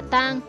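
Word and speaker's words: 桑: Nguyên nhân là bởi trong tiếng Hán, cây dâu đọc là tang, cùng âm với tang ma, tang tóc, có liên quan đến chết chóc bất hạnh, không mang lại may mắn.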